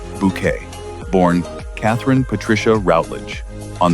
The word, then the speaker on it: Bucket: Patricia Routledge brought elegance, precision, and unforgettable comic brilliance to the role of Hyacinth Bucket, the social climbing woman who insisted her surname was pronounced Bouquet.